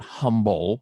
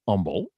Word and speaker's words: Humble: that uh humble is pronounced without the h it's not humble it's humble i learned that bucky's